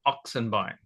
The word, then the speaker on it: Oxenbein: And they couldn't say, or the locals called it or pronounced it Oxenbein, and so they couldn't say that, so they just called me.